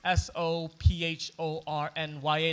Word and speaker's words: Sophornya: My name is spelt Sophornya. The PH in my name is pronounced more like a P than that F sound, right?